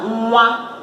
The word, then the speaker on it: nwa: N and W is pronounced nwe, nwe. Nwe dịka na N dịka na nwa, nwa is child, nwa is child.